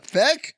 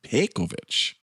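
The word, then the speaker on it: Pejkovic: Peck? It's spelled with a J in there. P-E-J-K-O-V-I-C. Pekovich.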